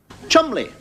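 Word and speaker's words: Cholmondeley: it's your gonna name like Cheol monthly no pronounce tall mod Lee Chumlee I suppose when you have pronounced bottom Lee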